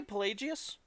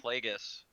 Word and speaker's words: Plagueis: Darth Plagueis, you fuck. Dark Yeah. side. Well, didn't he say Pelagius in no, the movie? Plagueis.